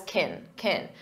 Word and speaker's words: can: When it's an auxiliary verb, we pronounce it as kin, unstressed, because the main verb is what you hear, play.